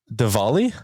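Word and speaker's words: Diwali: I'm saying that right pronounce the w v devali yes okay sorry again I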